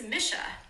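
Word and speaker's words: Mische: he has a good friend whose name is Misha Misha m Misha Misha would have never gotten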